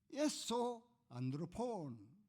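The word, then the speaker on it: ἔσω ἄνθρωπον: 에소 안드로폰 그렇게 발음합니다.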